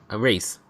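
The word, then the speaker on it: Rhys: How do you say R-H-Y-S? Rice? Race. Race.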